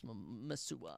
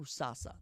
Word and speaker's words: Musasa: to ride with Josias Masua. I mean, what is his actual name? Musasa. That's how you say it.